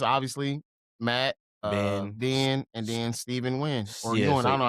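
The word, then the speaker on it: Steven Yeun: the three biggest obviously Matt Den and then Steven win or I don't know how to say his name Steven Yun uh Tiana Taylor who was we we got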